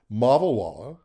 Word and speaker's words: Mavawalla: Mavawalla rhymes with Walla Walla, and they get that.